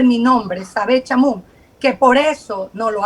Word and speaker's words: Sabett Chamoun: estado subrogante quiero pensar les es tan difícil pronunciar mi nombre es sabe chamo que por eso no lo hace quiero pensar